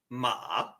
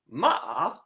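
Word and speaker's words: 麻: asking a question so your second tone sounds like ma ma it starts down here and raises up ma ma means hemp now interesting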